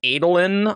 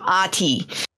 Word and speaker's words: Adolin: the graphic audio and they all pronounce Adeline with the heart the long a and it I just can't make my brain do it yeah even though I know that's probably technically more correct in the fandom it it's